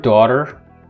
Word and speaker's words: daughter: that but they're still have a gh which is silent including the word although bao and the word do baro the word daughter daughter or daughter words such as high psy